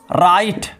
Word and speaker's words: right: यदि GH letter शब्द के बीच या अंत में आए तो वहां पर GH साइलेंट होता है।